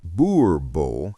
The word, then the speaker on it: Boerboel: The Boerboel, pronounced Boerboel, is South African, descended from Dutch and German settler dogs that were crossed with indigenous African breeds over centuries.